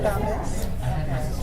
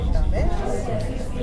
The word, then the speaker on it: Tamez: You can say Tamez. That's how it's pronounced in one part of the community, and others say Tamez.